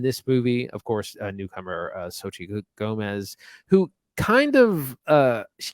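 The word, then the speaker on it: Xochitl: And a newcomer, I don't know how to pronounce her name, so I'm just gonna go for it. It's Sochi.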